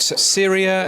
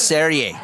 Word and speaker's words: Serie: And you were talking about Syria FM. Have I pronounced that right? No, it's Serie.